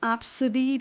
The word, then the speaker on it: Abcde: Like, there's unfortunately, a popular name that's Absidy, but it's spelled ABCDE.